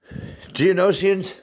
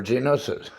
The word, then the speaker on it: Geonosis: Geonosians are from the planet Geonosia, or Geonosis.